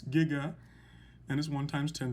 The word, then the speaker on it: giga: the prefix capital g is giga and it is pronounced giga not jiga it's giga and is one times